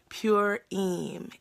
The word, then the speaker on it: Purim: Purim is how it's pronounced.